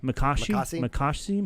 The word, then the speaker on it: Makashi: to defend and everything really well uh makishi spell it m-a-k-a-s makashi makashi and H there is an h m